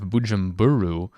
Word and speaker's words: Bujumbura: But over here we have Bujumbura, I think is how you say it.